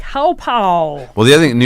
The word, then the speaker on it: Hauppauge: Hauppauge? Hauppauge. Yeah, I know. I said it's can't really poor can't help you there. And 5 people were like, Hauppauge.